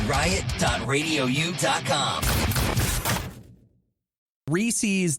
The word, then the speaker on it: Reese's: da radio you calm reese's does not rhyme with feces